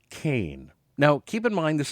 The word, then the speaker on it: Cain: bouncing ball the This Woman's name is camber Kain now keep in mind this is spelled with a k k a m b